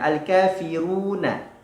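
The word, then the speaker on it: الكافرون: Namun Al-Kafirun ini adalah surah yang matnya berada di akhir dan dia memiliki tambahan nun ataupun tambahan huruf setelahnya, Al-Kafiruna. Ketika diwaqaf menjadi Al-Kafirun.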